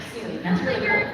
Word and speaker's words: Sune: I'm Sune. It's spelled S-U-N-E, and it's pronounced like the word soon.